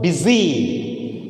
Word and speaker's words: busy: Now let us see here the word busy. So now here U is used or pronounced as E.